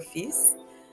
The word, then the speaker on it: fils: Mon fils et moi, my son and I, we pronounce the S but not the L for fils, are starting the game or begin the game.